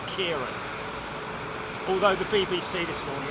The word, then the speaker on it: Ciarán: KW Green, I guess the best way to do it is put a K, take the C and replace it with a K and pronounce it like that, Kieran.